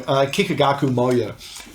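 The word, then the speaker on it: Kikagaku Moyo: I normally get their name wrong. Kikigaku Moyo.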